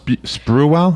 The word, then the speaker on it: Sprewell: This is Latrell Sprewell.